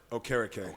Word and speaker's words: Okereke: And pronounce it. Okereke.